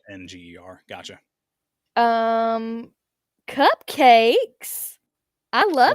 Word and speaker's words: Saenger: Southern people say singing. Gotcha. Say Not singing. Saenger.